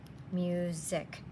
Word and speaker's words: music: want to memorize that this is an s music it almost sounds like a z sound here's another one Drew